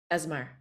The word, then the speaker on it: Esmar: But you must have, when you did get the part of the ensign, tell me how to pronounce it. Esmar.